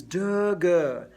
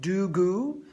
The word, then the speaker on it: de-ge: And then as I move towards double tonguing, my preferred syllable for that is de-ge, D-E-G-E. Not do-gu and not tu-ku, but de-ge, D-E-G-E.